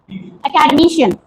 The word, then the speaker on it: academician: Okay, now where do you get academician? I've given the pronunciation, you can easily find out. शन पे ज्यादा पड़ रहा है.